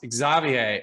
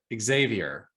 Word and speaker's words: Xavier: originally from France and in France if I believe if I'm correct your name is pronounced Xavier and here in the U.S we pronounce it Xavier am I right your